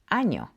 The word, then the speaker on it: año: Now it's very important for you to remember and differentiate this from the N, because that little squiggly line above it called a tilde can change the meaning of a word completely, like in año. You definitely don't want to mispronounce this one.